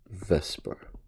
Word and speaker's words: VSEPR: molecules and chemistry is what's known as the vesper theory and vesper theory stands for the valence shell electron pair repulsion theory so vs epr even though it's pronounced vesper okay and this theory is based on uh